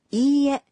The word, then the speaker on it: いいえ: When you say いいえ, you pronounce I one beat longer.